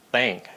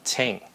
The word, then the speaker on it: thank: Ok, mình không có phải phát âm là tis, hoặc là tơ, hoặc là tease, hoặc là tat, hoặc là thank. Mình nói là thank chứ không phải là thank.